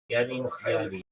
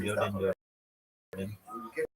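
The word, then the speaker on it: Yadin Yadin: The holder of this smicha as the above is referred to as a ra'ah, and ordination itself is called Yadim Yadim. Ashkenazi pronunciation Yodin Yodin.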